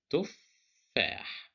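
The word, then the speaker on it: تفاح: The shadda tells us that this is two letters, two fas. The first fa is controlled by sukun, and the second fa is controlled by fatha. So that's why we pronounce it as tuffah.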